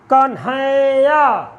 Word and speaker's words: कन्हैया: संयुक्त वर्ण के पूर्व वर्ण पर यदि बल न पड़े तो क्या होगा? तब लघु होगा। जैसे कन्हैया, तुम्हारा। उच्चारण करिए, कन्हैया, कन्हैया, कन्हैया। अब यहाँ जो न है ये दोनों संयुक्त हैं। अब इसका बल क्या पे न पड़, कि कहाँ पड़ रहा है? इसी वर्ण पे पड़ रहा है, तो इसके